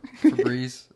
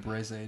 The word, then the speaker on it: Febreze: There's only one E in the end of Febreze. Yeah, I was looking at that too. Febreze. That one got that me. Shit was spelled like Breeze, like B-R-E-E. Yeah, I thought. That's what I thought. It's like it's got to be Breeze, nope. Like that. It's like Febreze now.